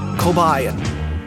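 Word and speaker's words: Kobaïan: Armed with this information, I've concluded that the language is pronounced Kobayan.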